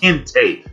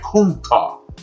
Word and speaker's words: kente: But the natural pronunciation is not kente. It's like kunta. But, you know, through decades and decades and centuries of translation, it becomes kente.